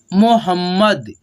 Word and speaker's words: मोहम्मद: मोहम्मद, ठीक है, मोहम्मद, म और म संयुक्त है, इसीलिए देखिए इस जो ये म है ना, आधा म, इसको हम लोग जब उच्चारण करेंगे ना तो इसका साउंड थोड़ा कम सुनाई देगा, लेकिन ये जो पूरा म है ना, इसको हम लोग क्लियरली सुन पाते हैं।